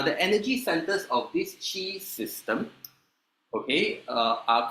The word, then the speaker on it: qi: Okay, in humans, okay, is called chi. Okay, whether you spell it qi or ch i ch.